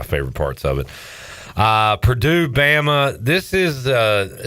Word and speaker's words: Purdue: Purdue rhymes with two.